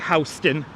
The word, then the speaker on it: Houston: I'm a stickler for pronouncing places correctly. Like Houston.